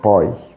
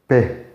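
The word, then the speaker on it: Ⲡ: الحرف ال17 بالنسبة لنا هو حرف البي، ويمكن احنا كنا اخدناه في الرياضيات على انه باي، لما هو احنا عندنا هنا في القبطي اسمه بي وبيتنطق بي اللي هي حرف البي.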